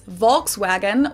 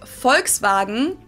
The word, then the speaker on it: Volkswagen: it would be pronounced Volkswagen and not Volkswagen. So just imagine that it was spelled with an F and V instead.